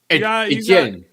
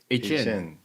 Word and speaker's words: Etienne: It's Etienne. Etienne.